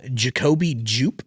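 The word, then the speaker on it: Jacobi Jupe: And um I'll again talk about this in our year review, but uh Jacobe Jup, that's how you pronounce the name.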